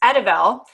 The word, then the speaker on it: Edivel: And again, yes, it's Edivel, and it looks a little different and it's unique and it's kind of hard to pronounce.